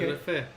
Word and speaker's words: Şerefe: So normally there's a letter in Turkish. It's like sh makes sound. It looks like S.